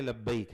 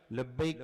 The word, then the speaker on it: لبیک: لبیک کا پروناؤنسیشن, اس کا تلفظ صحیح ہو. اس میں ایک بات اکثر ساتھی پڑھتے لبیک لبیک, دونوں کا فرق سمجھیے. ہمارے اکثر ساتھی گجرات کے خاص طور پر لبیک پڑھتے ہیں, گجراتی لکھاوٹ